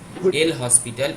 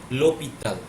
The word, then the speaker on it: L'Hôpital: Particularly, that is not pronounced as L hospital, it is pronounced as L'Hôpital. Okay? লোপিত। Yeah, that is particularly a French word, ও and not it is called as Lee Hospital or L Hospital or something.